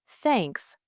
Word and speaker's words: thanks: sound in words like thanks, think, and with. Many learners replace it with s or t to pronounce th correctly. Place your tongue lightly between your teeth and blow air out.